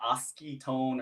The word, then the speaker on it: Oskitone: right uh and people will call it oski tone or oskitone or whatever i don't really care i'm i'm cool with all that it's a it's a made up word i it's fine um if you spell it